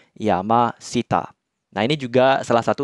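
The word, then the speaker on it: 山下: bawah atau kanji Sita maka kanji gunungnya tetap dibaca Yama ya jadinya Yama Sita nah ini juga salah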